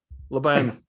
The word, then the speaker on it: Laban: Milan Laban? Am I pronouncing it right? Laban. Oh, okay, I didn't have my Serb accent.